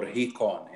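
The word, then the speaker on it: ϩⲓⲕⲱⲛ: Sorry, we we say it e- ikon or hekon in Coptic. Okay. So, ikon and sometimes for the hissing sound at the beginning, we add a hori, which is like H at the beginning.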